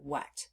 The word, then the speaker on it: what: that pattern yet however the part that makes this really irregular is that letter A the letter a is making the short u sound uh uh and we